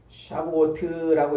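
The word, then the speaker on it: שבועות: 요 77절 혹은 맥주절 그러는데, 77절이라는 말은 샤브오트라고 이렇게 이제 발음을 하는데, 이게 하나님의 공급하심, 하나님의 부어주심을 의미해요.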